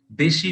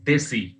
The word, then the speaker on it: Deshi: or address the term Deshi masculinity. Often it is pronounced as Desi, that is Desi masculinity, with a strong Hindi undertone suggesting South Asian masculinity, more precisely Indian masculinity.